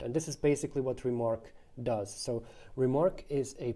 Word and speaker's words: RMRK: remarks and that's why the protocol is called remark rmrk pronounced remark uh what the way